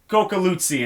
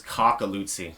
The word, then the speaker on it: Coculuzzi: i thought it was cockalootsy yeah a lot of coffee yeah but it's more like coco i asked him yesterday